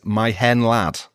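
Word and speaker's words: Mae Hen Wlad: So his teammates like Gary Speed and John Hartson told him to just write it down phonetically as my hen lad to help him belt it out before matches.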